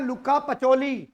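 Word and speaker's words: Luca Pacioli: हिंदी में नहीं लिखा आ रहा, हाउ टू प्रोनाउंस, का नाम है लुका पचोली, लुका, लुका या लुकास, लुका पचोली, एच साइलेंट है यहां पर।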